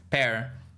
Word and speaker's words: pear: Same pronunciation as pair.